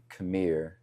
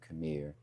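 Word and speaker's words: KMIR: So my nonprofit is uh Camir. KM I I pronounce K M I R which is an acronym Camir.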